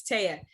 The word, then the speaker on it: Teyha: But it's Teyha. No, it's probably the way that it's spelled. It's okay. I get it. I get it all the time. I'm not offended at all. But it's Teyha.